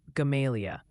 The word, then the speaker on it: Gamaliel: reminding us that it- Gamaliel, near Mountain Home, is pronounced more like Gamalia. Keep up the great work. Gamalia? So that's the one I've been calling Gamaliel.